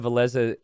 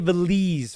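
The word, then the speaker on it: Villese: I think I'm going to have to, I think I'll probably stick with my best pronunciation, which is Veleza, okay? I did say Veleze for a while, and I thought that was fine, and then I was corrected, so.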